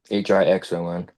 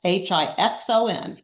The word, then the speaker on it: Hixon: It's Hixon. Okay, so no S, Hixon.